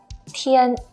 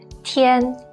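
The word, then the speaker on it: 天: first one with nothing go being beyond is pronounced as tien tien means sky or heaven well you can think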